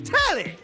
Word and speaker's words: Telly: The name's Telly. Rhymes with Nelly.